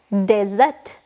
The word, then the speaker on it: desert: these like a drop of water in a desert desert spellings d e s e r t desert desert again make a pronunciations dessert dessert desert dessert each and every